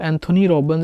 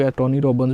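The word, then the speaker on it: Anthony Robbins: जो बुक है तो उसका नाम बिल्कुल एंथोनी रबंस है उसको कुछ लोग एटोनी रबंस भी कहते हैं तो ये लोगों को शायद लगता है कि मैं नाम गलत प्रोनाउंस कर रहा हूं तो ऐसा नहीं है उसका नाम ही ऐसे भी प्रोनाउंस करते हैं लोग तो आपके पास गोल्स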